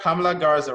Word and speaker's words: Pamela Garza: Pamela Garza, right?